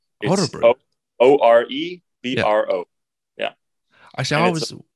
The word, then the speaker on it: Örebro: So how did you pronounce the Swedish club name? Örebro. Örebro. O-R-E-B-R-O. Yeah. I thought it was Örebro or something like that.